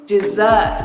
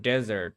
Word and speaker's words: dessert: I think what we wanted to say is I think what you want to say is dessert is my dessert. Okay. Dessert. Not desert.